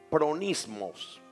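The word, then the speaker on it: phronismos: La palabra sabiduría es la palabra pronismos. Esa palabra se escribe P-H-R-O-N-I-S-M-O-S.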